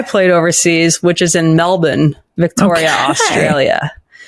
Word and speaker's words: Melbourne: overseas which is in Melbourne Victoria Australia and I say it like a lot like an Aussie in Melbourne Canadian say Melbourne but that's not how it's said okay I live there